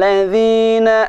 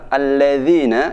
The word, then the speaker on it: الذين: Siratal ladzina an'amta 'alaihim. Siratal ladzina an'amta 'alaihim. Nah, perhatikan pada huruf dha. Jangan sampai membaca siratal ladzi. Ladzi tidak benar. Yang benar alladzina.